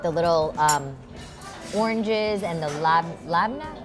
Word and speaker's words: labneh: little oranges and the labneh. I always feel like I'm saying it wrong. There's a bunch of different ways to say it. Labneh, labneh. Okay. We just say labneh.